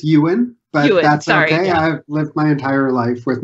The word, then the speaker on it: Ewan: not mispronounce your name you did actually it's Ewan that's my entire life